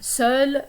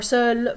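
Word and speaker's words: seul: could say jabit and these are pronounced the same soul or soul for masculine or feminine it's just a spelling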